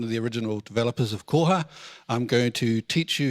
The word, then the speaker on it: koha: the original developers of koha I'm going to teach you how to speak tereo Maori in five minutes so that you can pronounce koha koha not koha or all sorts of other things so is the indigenous